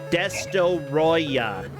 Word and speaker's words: Destoroyah: I also love that other enemies of Moguera are Space Godzilla, Mecha Godzilla, Destoroyah, that's how you say it, Destoroyah, Megalon, Batra, King Ghidorah, Gigan, Orga, and Trilopod.